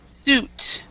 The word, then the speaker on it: suit: Jonathan is suit so all the the words like uh fruit suit they have the UI but we do not pronounce the U the I so so it's suit fruit suit fruit yeah exactly all right so